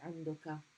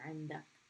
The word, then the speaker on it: عندك: And the formal way of pronouncing it would be عندك with the fatha here. And nowadays, most people say عندك because it's a little bit easier. You have.